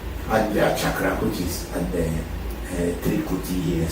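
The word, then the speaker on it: Ajna: lot of people do not know how to pronounce it in Sanskrit they say a chakra but it's not called a chakra the pronunciation is AGA AGA chakra which is the here sometime people call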